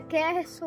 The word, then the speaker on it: Kerryson: Como é que pronuncia teu nome? Meu nome todo é Keirson.